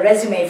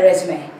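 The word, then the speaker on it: résumé: It's really a French word. And you can see this accent on top of the e.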